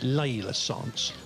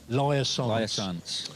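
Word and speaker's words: Laia Sanz: So you've got two head-to-heads, Emma Bristow versus, how do you say, is it Layla Sance? Laya Sance, yeah.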